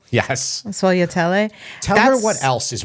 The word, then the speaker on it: sfogliatelle: and then Tara, the one I can never pronounce. Sfogliatelle? Yes. Sfogliatelle.